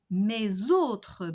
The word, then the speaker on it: mes autres: Mes autres baguettes, notre autre baguette, nos autres baguettes. Each time the possessive adjectives ends with an S, we have a Z pronunciation liaison.